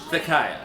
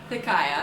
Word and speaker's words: Thiciah: Thiciah. Thiciah.